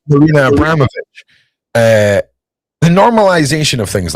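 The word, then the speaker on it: Marina Abramović: There's, how do we pronounce this woman's name? Woman, right? Yeah. Right? Marina Abramovich.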